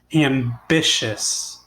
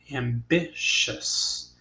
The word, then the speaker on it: ambitious: Ambitious. What sounds are the letters T-I-O-U-S making in this word? Ambitious. It's making a shus sound.